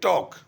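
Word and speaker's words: talk: लिखने में क्या लिखा टी ए एल के टॉक लेकिन इसको पढ़ेंगे क्या टॉक लिखते हैं टॉक पढ़ते हैं टॉक तो एल क्या इसके अंदर साइलेंट है जैसा लिखा गया वैसा पढ़ा नहीं गया आगे देखिए वक डब्लू ए एल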